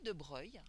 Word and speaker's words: de Broglie: comme une particule louis de breuil alors ça s'écrit de broglie mais on le dit on les nonces louis de breuil donc lui de breuil